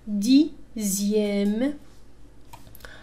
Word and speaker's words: dixième: X تنطق تماما مثل Z. هذه في خاصة في الأعداد تسمى les nombres ordinaux. Deuxième. لاحظوا هنا X تنطق كأنها Z. Deuxième. Sixième. Dixième.